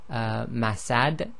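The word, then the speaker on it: مسد: So in the first one, if we stop, we'll say masad.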